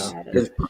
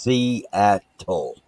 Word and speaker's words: Seattle: is how you pronounce it. If you want to know, Seattle. because Filipinos always get it wrong. Yeah, it's pronounced Seattle. Yeah, Seattle. Seattle. And he was an Indian chief.